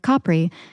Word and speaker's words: Capri: of France and AAL specifically Capri or Capri if anyone who speaks Italian is listening I feel like you sound like a douche if you pronounce it correctly but Italians think you sound like an idiot if you say it like capri pants so you truly can't